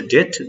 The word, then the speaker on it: debt: তাহলে দেখো উচ্চারণটা কি রাখতে হবে, DEBT, এখানে বি এর উচ্চারণটা আসবে না, উচ্চারণটা হবে হচ্ছে ডেট, যার মানে হচ্ছে ঋণ।